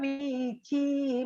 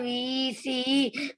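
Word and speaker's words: वीचि: Yamuna madhura vichi madhura. Yamuna Madhura VC Madhura. It's given C, but you have to pronounce like cha, chi, cha, vichi, Okay.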